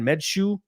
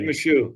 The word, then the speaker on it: Meshew: Medshoe? I keep forgetting. Jed Meshew. Jed Meshew. Goddamn. I don't know why. Like, I know how to pronounce it, but every time I see him, just like my brain just has a mental lapse for some goddamn. Yeah, I'm not gonna lie. I thought it was Mishu for a minute.